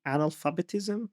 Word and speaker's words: analphabetism: era of rampant um literary analphabetism. Is that how you say it? Yes.